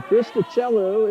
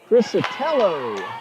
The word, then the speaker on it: Cristicello: Rachel Cristicello is a freshman from Southington, Connecticut. So hello, Miss Cristicello. And a swish. That's a 2-point shot for Trinity Sneed. And thank you, I believe, pronouncing that Crisatello.